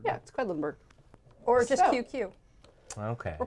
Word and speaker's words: Quedlinburg: quentinburg yeah quinlanberg but it's Finland quacks of quedlinburg that's quedlinburg or just QQ okay we're playing QQ we're